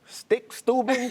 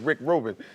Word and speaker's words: Rick Rubin: She couldn't remember the name, couldn't pronounce it correctly. Stick Stubin, Stick Lubin, Dick Van Dyke, you know, just anything but Rick Rubin.